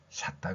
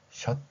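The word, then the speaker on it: shut: 발음이 나올 수 있는데 일본어는 어 발음을 못 하기 때문에이 발음이 샤다 됩니다 샷다 그래서 어 우리가 그 문 단단하게 문을 한번 이중으로 잠을 때 뭐 위에서 뭔가를 쭉 내리잖아요 그럼 샤타 닫았다 그래 샤타 닫았다 시타가 다단데 닫은 걸 또 닫습니다 자 여러분들은 이런 발음이 아니라 셧 발음을 할 수 있지요 이런 표현들이 바로 유에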